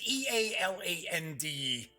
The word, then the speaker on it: Eland: And I've got the dope on Ruin and Conquest, Adventures on the Isle of Eland. Think I'm pronouncing that correctly. It's Ealand.